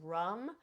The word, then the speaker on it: ram: So the seed sound for the solar plexus is rum. It's spelled RAM, but it is pronounced rum.